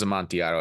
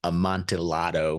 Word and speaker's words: Amontillado: This one's Amontillado, and we could do a whole episode just